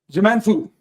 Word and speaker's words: Je m'en fous: Je m'en fous. Je m'en fous. The S is silent, just so you know.